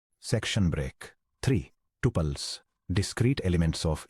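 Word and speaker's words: tuple: Formal relational theory में एक रो को टूपल कहा जाता है। जिसका प्रोनाउंसिएशन टहल या ट्रूपल होता है।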